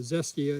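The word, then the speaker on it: Xestia: it doesn't have a common name it's a zestia is a genius it's spelled x e s t i a this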